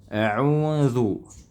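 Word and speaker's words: أعوذ: bunyinya w ya e maka yang benar adalah kembalinya bibir tanpa ada suara tambahan Ya, bahkan guru kami, kebanyakan guru kami mengatakan ee kembalinya itu hanya ringan saja. Tak usah memundurkan sekali bibir kayak gini. U e cukup ya. kembali sedikit kemudian maju lagi di huruf dza ya kayak auzu au ya ringan saja tak usah diberatkan tak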